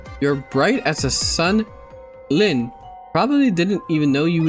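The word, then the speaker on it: Lynne: This is how you pronounce her name. Okay, let me see. Uh, Lynn. Lynn. Okay, it's a Lynn. That's a weird way to spell it. No more lean rip.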